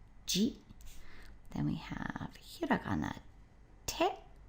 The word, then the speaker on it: 自: Of course it's pronounced ji.